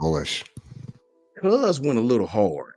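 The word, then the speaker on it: Golesh: But South Florida at their media day, their coach Alex Golish, is it pronounced goalish. like that? Yeah, goalish.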